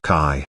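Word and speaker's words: qi: in chinese the word kai also known as chi means natural energy life force or energy flow be aware that the chinese word kai is pronounced somewhat similar to the english word c based on these occult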